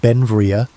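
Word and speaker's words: Beinn Bhreagh: Pronounced Benvia, Belle became an American citizen in 1882, but his name meaning beautiful mountain in Scottish Gaelic showed his Scottish heritage.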